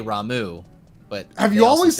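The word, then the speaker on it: Ramuh: probably how i imagine ramu is probably how you would say it in japanese but i've always said ramu and rama just sounds odd see i've always said rama but you're right 15 said rama well guess what 14 says ramu so that was that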